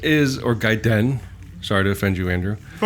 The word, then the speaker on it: Gaiden: But, uh, anyway, uh, so Ninja Giden is or Gaiden.